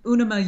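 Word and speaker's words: UNIMA: it's the UNAMA USA Citation of Excellence, which was founded by Jim Henson.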